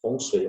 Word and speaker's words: Feng Shui: Então, a medicina chinesa, a astrologia, o Feng Shui, né, que é Feng Shui, a pronúncia correta, a astrologia, tá?